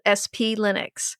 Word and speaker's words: Splinux: So our tip this week is to check out a tool called SP Linux. No, it's Splinux.